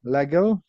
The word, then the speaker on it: Legel: welcome to Sensei Noah Lego that's how you pronounce your name because I always go with a hard G and I'm thinking am